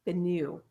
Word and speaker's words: Bennu: Bennu.